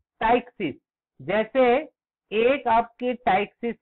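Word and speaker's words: ptyxis: टाइक्सिस का spelling P से शुरू होगा, पी टी वाई एक्स आई एस, टाइक्सिस.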